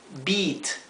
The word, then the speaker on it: beat: e se pronuncia I la ea se pronuncia idénticamente y por ejemplo eat que significa comer te que significa t Beat que significa vencer a alguien o también significa golpear bien o sea se pronuncia como una I larga I vamos a poner